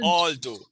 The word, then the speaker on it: although: No, you're pronouncing with an H. Although. Not Although. although. Although. The TH, you're not pronouncing the TH. Although. It's a Creole interference because we have been speaking Creole so long, it has to some extent fossilized us not pronouncing the TH, whether it be the voice or the voiceless TH at the beginning or ending of words.